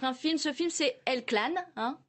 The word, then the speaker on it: El Clan: pièce de théâtre un film ce film c'est elle-clan prononce comme ça qui sort aujourd'hui en salle qui